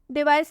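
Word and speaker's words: device: डिवाइस, डिवाइस में सी के बाद ई आ रहा है, तो इसलिए हम डिवाइस में सी को स से पढ़ेंगे।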